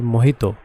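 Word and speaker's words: Mojito: তো এরপরে যে প্লাগইনটা আছে সেটা হচ্ছে মোহিতো। হ্যাঁ, আই থিঙ্ক মজিতো লেখা, এটা মোহিতোর মতোই উচ্চারণ হবে। ইউজুয়ালি মোহিতো এভাবেই উচ্চারিত হয়, বানানটা স্পেলিংটা সেম থাকে।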